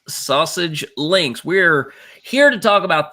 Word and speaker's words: SASG Links: Yes, it is pronounced Sausage Links.